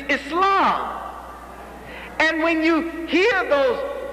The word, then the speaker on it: Islam: That's how they say it. Islam. Y'all like that Islam? It's Islam.